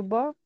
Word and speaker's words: beau: Que demain soit plus beau Beau, que, plus beau, plus beau que qu'hier. hier. Oui. Et pour E-A-U se pronuncia O.